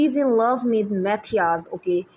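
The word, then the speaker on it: Mathias: शी इज़ in love with मैथियास। Okay, इसको इसको आप मैथाइस प्रोनाउंस करेंगे, मैथाइस।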